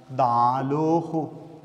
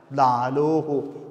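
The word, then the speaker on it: ܕܐܠܗܐ: Then it is pronounced as dalohu. The vowel of the olaf takes the pronunciation of dolat, or dolat takes the pronunciation or vowel of alaf. Dalohu, dalohu, dalohu.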